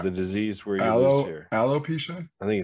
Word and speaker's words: alopecia: what aeropesia the the disease where you know alopecia i think it's it might be arrow aloe makes more sense now hearing it might it might not be arrow it might not be arrow uh it's alopecia yeah aloe makes so much more sense um